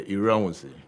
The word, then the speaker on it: Iranuse: I hope I got the pronunciation of your surname right. Yeah, Iranuse. Iranuse. Godwin Iranuse is joining us this morning.